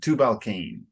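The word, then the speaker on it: Tubal-cain: but then tubal King so the English pronunciation is cane two balcaine okay okay and let me let me try here and the police oh I'm sorry 422.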